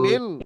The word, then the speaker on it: من: আতআমাহুম أطعمهم من মিন, মান নয় ভাই, মিন মিন মিন من জু।